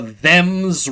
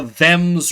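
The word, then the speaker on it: Thames: Like they say, "Oh, well, you know, you pronounce the H because there's a bloody H in it." Well, what about the them's river that runs through your beloved London? How about the them's river?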